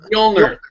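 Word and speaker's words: Mjölnir: an O and an l no it's all mner Hammer of mner it's just called mner it's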